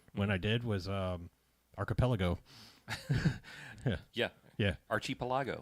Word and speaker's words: archipelago: yeah because I was I was trying to put way more syllables in it because it's how it looks yeah I was like it was like Hey Archer a couple Lagos or something like yeah